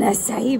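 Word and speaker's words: açaí: Comment est-ce que vous prononcez acai? Acai. Some people say acai. Wrong. I know. Dites-nous en commentaire.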